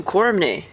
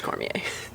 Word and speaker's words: Cormier: missed one uh daniel cormany cormier former carm cormier daniel cormier no it's cormier you gotta say it like that it's cormier is it cormier yeah